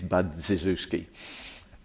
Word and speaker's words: Budziszewski: His name is Budziszewski, which phonetically is Budziszewski.